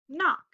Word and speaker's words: knock: When you have K-N together, the K is silent. So we have N, A, K. What's the word? Knock.